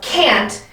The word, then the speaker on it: can't: sing they can't dance so the pronunciation of can't does have that ah sound in there can't can can't all